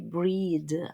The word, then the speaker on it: breathe: I could hardly breathe. Breathe. You drop the e, the final e. Take the breath. Okay. Totally different pronunciation.